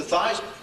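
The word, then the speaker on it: Theismann: we think by just simply changing the pronunciation of your last name from thian to thyman to rhyme with Heisman we can guarantee you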